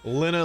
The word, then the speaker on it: Lena: Lena like Jenna.